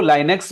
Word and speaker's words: Linux: अच्छा एक इसमें एक गड़बड़ है, कई लोग इस ऑपरेटिंग सिस्टम को लाइनेक्स बोलते हैं, लाइनेक्स, कुछ लोग इसको लिनक्स बोलते हैं, ठीक है? तो जो आपका प्रोनाउंसिएशन हो ना, वो आप अपने हिसाब से देख लेना। वैसे दोनों को ही लोग सही मानते हैं, कुछ गड़बड़ नहीं है, ठीक है?